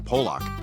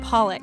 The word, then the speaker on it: Pollock: you know I really like uh that jackon polock it's pronounced Pollock Ellie assures him he doesn't have to try